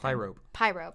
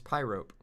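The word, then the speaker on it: Pyrope: pronounced the pyrobee no i was thinking pyropy when i saw it but yeah that's pie rope cause pyro and then rope cause she hangs dragons oh i thought it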